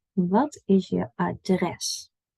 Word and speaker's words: adres: Our emphasis is on dress. Not address, maar adres. Can you hear the difference? Adres, address. So usually words in Dutch have an emphasis on the second syllable rather than the first.